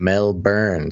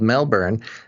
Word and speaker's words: Melbourne: official uh mentions basil we don't pronounce the o in melbourne it's more like melbourne so two things it's called melbourne and the other thing